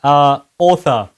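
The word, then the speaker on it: Arthur: Author. How is the name actually pronounced? And I guess there was some kind of background joke about this. Yeah, so to do it correctly, it is author.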